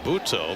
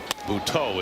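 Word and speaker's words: Buttó: However, there is an accent both on the E of Jose and the O of Butto.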